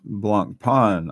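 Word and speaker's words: Blancpain: the Swiss escapement ah it's pronounced Blanc Pon I I know that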